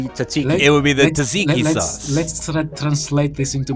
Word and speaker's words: tzatziki: It would be the tzatziki sauce.